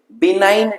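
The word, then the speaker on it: benign: এগুলোকে আমরা কি বলি বিনাইন tumour বিনাইন বি এন আই জি এন হ্যাঁ বিনাইন জিটা সাইলেন্ট থাকে বিনাইন টিউমার বলবো আর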